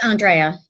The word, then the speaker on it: Andreya: Is that how you pronounce it, Andreya? It's Andreya, yeah, but I go by Dreya, so.